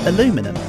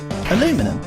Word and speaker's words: aluminum: By an American and they called it aluminum. Yeah. So the correct pronunciation for it for all intents and purposes should be aluminum despite its spelling.